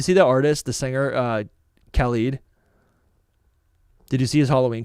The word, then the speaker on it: Khalid: I feel like I've been corrected. Khalid. I used to say Khalid, and then people were like, no, it's Khalid.